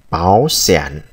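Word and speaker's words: 保险: lao động rồi, từ báo sản. Ở đây hai thanh ba đi liền với nhau thì thành cái chữ đầu tiên thành biến thành thành hai, rồi chúng ta đọc là báo sản có nghĩa là bảo hiểm.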